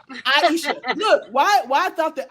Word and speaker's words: Iyesha: Iyesha. Iyesha.